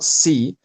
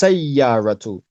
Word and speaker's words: سيارة: So avoid saying C. There's no kasra under the scene. It's not C. It's sayyaratu.